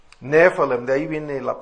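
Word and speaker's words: nephilim: es la palabra hebrea nefalem n e p h i l i m nefalem ph en inglés se pronuncia como F nefalem de ahí viene la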